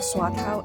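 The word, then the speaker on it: Swatow: Swatau is the English word for my the English word for the the dialect pronunciation of my hometown.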